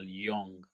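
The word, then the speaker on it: Jung: um written by car Yong is it Jong I usually call it y because they J pronounce it why so car I think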